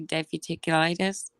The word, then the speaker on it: diverticulitis: Diverticulitis.